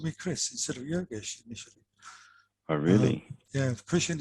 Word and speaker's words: Yogesh: right um but the the manager couldn't pronounce yoga's probably kept calling me joseph for some strange reason but i think he's yogesh you're not joseph so he goes do